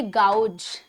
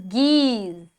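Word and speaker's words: gauge: नाउ आप इसको बोलते होंगे गाउज, गाउज नहीं, that's a wrong one. What's the correct pronunciation of this word? That is geese, geese.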